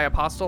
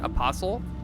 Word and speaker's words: apostle: And by apostle, I mean apostle. I learned that pronunciation correction earlier today.